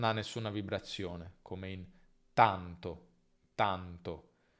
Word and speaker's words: tanto: In italiano non c'è nessuna aspirazione, quindi non tanto, ma tanto. Tanto, sbagliato, tanto, corretto.